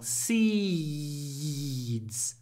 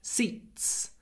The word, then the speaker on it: seeds: quite long seeds seeds because you don't want your seeds to sound like seats seeds we have a lot of Y seeds before the voiced du but seats seats it's very short before an unvoiced T So seeds seeds seeds